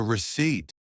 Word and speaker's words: receipt: The receipt. With a silent P.